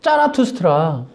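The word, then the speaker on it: Zarathustra: 그 조로아스터교의 조로아스터가 독일어 발음으로 짜라투스트라.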